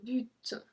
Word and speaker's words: but: So this one, the same thing, if you saw the video how to read in French, we are not supposed to pronounce the T. But we do in this case.